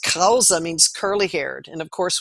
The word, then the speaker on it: Kraus: In German pronounced Krause means curly-haired.